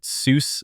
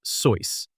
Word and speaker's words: Seuss: People often pronounce it Seuss nowadays, but in the German tradition my family followed, it was actually pronounced Soyce. It rhymes with voice.